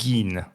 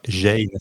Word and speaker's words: Gein: peut-être un des plus connus, qui s'appelle Ed Gein. Ou Ed Gein, ça s'écrit G-I-E-N.